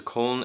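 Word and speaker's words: Köln: pronounce it correctly um so col is the German uh word and pronunciation for um the English version cologne which is germanese fourth largest city andb realistic Landing lights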